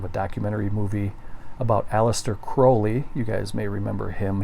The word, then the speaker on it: Crowley: And it is pronounced Crowley. It's Aleister Crowley, not Crowley.